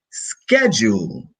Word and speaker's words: schedule: Remember, normally when the noun or the word starts with sch, it's pronounced with a K. So we have school, for example. We also have schedule.